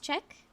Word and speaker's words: Czech: So it's it's pronounced Czech.